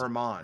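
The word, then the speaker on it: German: I believe Nelson's last name is pronounced Herman.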